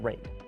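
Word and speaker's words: RAID: all those letters and yes I know it's pronounced rate so there you have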